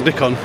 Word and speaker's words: Nikon: Nick own solutions manager it's pronounced Nick on what are you showing